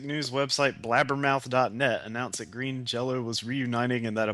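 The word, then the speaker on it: Green Jellö: Green jelly, because apparently with the those lame ass like Scandinavian dots over the Y, you're supposed to pronounce it green jello.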